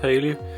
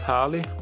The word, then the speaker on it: Harley: We found out that Haley up there is actually not pronounced Haley, but Harley.